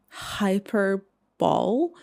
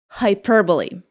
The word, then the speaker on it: hyperbole: Hyper ball. It is pronounced like hyperbole.